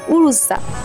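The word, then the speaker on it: Oryza: অথচ এটার আসল উচ্চারণ হবে উরুজা।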